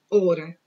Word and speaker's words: hora: No caso, você vai trocar um fonema, realmente, observe que o F nós pronunciamos, mas o H não.